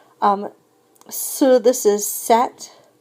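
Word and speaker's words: cet: pronounce two vowels together if we have a masculine singular noun that starts with a vowel then we're going to say set c e t so in terms of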